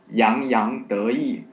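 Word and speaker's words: 洋洋得意: Well, the 4 characters pronounced as yang yang de yi.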